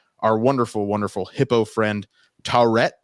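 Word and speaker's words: Taweret: wonderful, wonderful hippo friend, Taurette, I believe is how it's pronounced. Is that correct, Alex? I think so. Yeah. Taurette is, I think, how they said it.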